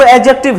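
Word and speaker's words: adjective: इधर देखिए, याद रखिएगा ए और जे के बीच में जितने भी डी है सब साइलेंट है, इसको याद रखिएगा। इसलिए हम लोग इसको एडजेक्टिव नहीं पढ़ के एडजेक्टिव पढ़ते हैं।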